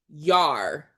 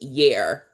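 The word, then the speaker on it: yare: So in Hebrew, the word fearfully in this verse is yar, and it's spelled Y-A-R-E, yar, right? Or it could be pronounced yer, one or the other, yer or yar. We're going to call it yar, but that's the Hebrew word.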